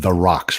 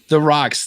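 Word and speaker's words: Theroux: say your name again let's go with of the rocks right now the rocks yes so it's it's th er o ux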